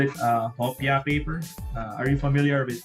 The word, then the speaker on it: hopia: Would you believe in the Philippines we call it hopia paper?